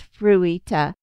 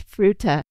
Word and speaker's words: Fruita: I thought it was Fruita. I think I wanted to pronounce it like you would in Japanese. Not that I speak Japanese either. And the lady was like, it's Fruita. And I was like, oh,